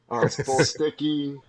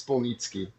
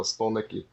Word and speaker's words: Spolnicki: But it's pronounced like it's spelled. Unless you're in Poland, then it's Spolnicki. But we're in the United States, so Spolnicki.